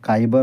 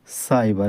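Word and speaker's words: cyber: সি ওয়াই বি ই আর এখানে উচ্চারণ কাইবার হবে নাকি সাইবার সি এর পরে রয়েছে ওয়াই আর যদি সি এর পরে ওয়াই থাকে তাহলে সি এর উচ্চারণ হবে বা স তাহলে এখানে সি এর উচ্চারণ হবে সাইবার এটা হবে সাইবার এবার আমরা সি এর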